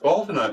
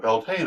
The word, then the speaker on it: Beltane: Beltane, pronounced Baltina in Gaelic but Beltane in English, is celebrated on May 1st.